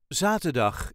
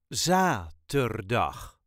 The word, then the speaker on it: zaterdag: on Friday vrijdag vrijdag zaterdag is next Again the first syllable gets The emphasis zaterdag zaterdag ter dag zaterdag Laten we zaterdag naar